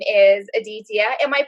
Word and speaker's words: Aditya: that a B so now AJ's name is Aditya am i pronouncing that somewhat okay with my California accent yeah yeah Aditya that's the musician now a meaning of DTS